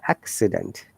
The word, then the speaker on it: accident: If C should be sound like car, because there are two C's and they have got two different sounds. One is car, another is sa. Accident.